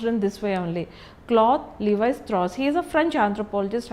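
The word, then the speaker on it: Claude Lévi-Strauss: has to this particular name has to be pronounced in this way only. Cloth Levis Tros he is a French anthropologist and he belongs to the structuralism school of thought.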